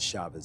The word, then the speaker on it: Chavis: of Kesha Chavez uh spelled Chavis but they said the pronunciation of Chavez if I mispronounced the